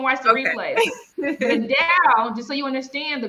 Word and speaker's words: DAO: DAO is not DOW, okay? How do you pronounce it? Is it DAO? It's DAO.